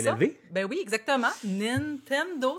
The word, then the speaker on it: Nintendo: Nintendo, c'est comme ça que ça se prononce.